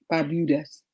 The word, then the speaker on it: Barbuda: Nah, Barbudas.